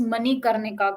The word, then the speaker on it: Manikarnika: Can you pronounce again for me? It's Manikarnika.